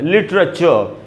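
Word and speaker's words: literature: ये जो एंड में आर है, इसका उच्चारण मैंने नहीं किया, क्योंकि ब्रिटिश इंग्लिश में ऐसा नियम है, इंडिया में ब्रिटिश इंग्लिश चलती है कि एंड में अगर वो आर का साउंड हो तो उसको वो साइलेंट होता है हमेशा, इसलिए इसको ब्रिटिश इंग्लिश में पढ़ेंगे लिटरेचर।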